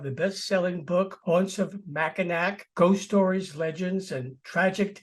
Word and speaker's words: Mackinac: Well, I hate to do it, but it's Mackinac. Mackinac. The C is silent. It's a French spelling, but yeah, it happens all the time.